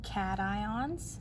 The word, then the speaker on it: cation: we can have what we call cations that's how that's pronounced cat ion and those are atoms